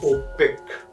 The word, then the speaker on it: OPEC: and exporting countries but we never say c we always say opec we do not pronounce this e as a letter we pronounce e as a vowel sound this is a tendency